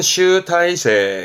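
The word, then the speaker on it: 集大成: 행슈 행슈 새 글자도 많이 쓰는데요 그렇죠 집대성이라 발음은 슈타이 슈타이 여러 가지 것들을 하나로 모아서 정리하게 되는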